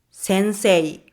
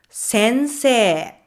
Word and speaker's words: sensei: You might try to say it as sensei. Sensei. But in everyday conversation, it's a long e like sensei.